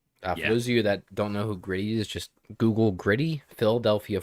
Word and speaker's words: Gritty: it's two teas and gritty gritty is the best philly mascot um i don't know about that it's two t's but it's pronounced with two d's if you're from philly greedy instead of grit gritty